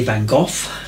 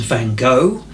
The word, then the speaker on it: Van Gogh: explained it beautifully now the Brits will tend to say van go the Americans van go and the Dutch obviously where he's from will pronounce it well no I won't try